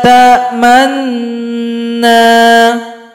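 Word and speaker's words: تأمنّا: Nah, jadi cara bacanya malaka la ta'manna. Manna, manna, manna. Itulah yang dikatakan dengan ismam.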